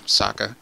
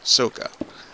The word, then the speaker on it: Sokka: the cartoons, you know, Sokka, that's his name, S-O-K-K-A. If he was Japanese, it would be pronounced Soka, or Soka, yeah, you know, a little more delay on there. And so, you know, I